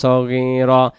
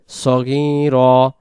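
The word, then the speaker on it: صغيرا: এই জায়গায় রাব্বায়ানি, যে রাব্বা যেন উচ্চারণ হয়, রব্বা উচ্চারণ হবে, আর নিস সগীরা হবে না, রব্বায়ানি, নি নুন ইয়াজির নি এক আলিফ টান হবে, রব্বায়ানি সগীরা, সাগীরা উচ্চারণ হবে না, সগীরা।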